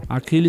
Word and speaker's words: Akilli: Aquile se escreve AKILLI, tá certo?